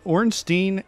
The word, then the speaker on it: Ornstein: this was on there is orange Dean and SMO is how you pronounce it sorry quarantine and thank